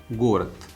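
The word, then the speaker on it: город: Jirevni means village, and the antonym can be considered Gorat. Gorat, city. Please pay attention, Gorat, the is written but the pronunciation is the.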